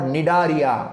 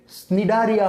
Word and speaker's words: Cnidaria: आउ थरे कहूची पोरीफेरा, तापर सिलेंटराटा और निडारिया. नॉट सी अछि बट सी इज साइलेंट. जिमति कि टेरिडोफाइटा पी अछि, पी is silent. Okay, pteridophyta बोली कहला. सिमिति CNIDARIA स्निडारिया हबनी केबे, ता कोन हो निडारिया हबो.